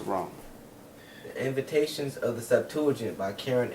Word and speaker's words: Septuagint: Septuagint.